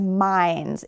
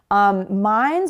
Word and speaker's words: mine: Sometimes people say mine, like mine and yours, as mines. It's mines. Mines would be the plural of a mine, like where you can mine coal or other minerals. So remember, if you're talking about something that belongs to you, it's mine, no S at the end.